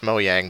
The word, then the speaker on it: Mojang: their excellent work or I guess it might be pronounced moyang but Mojang whatever moyang thanks for your work